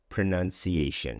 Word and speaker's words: pronunciation: But this word is pronounced pronunciation. Pronunciation. There's no diphthong in the second syllable.